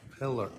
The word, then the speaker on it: Pilla: Polar. Detective Polar uh on I always say your name wrong. Pillar.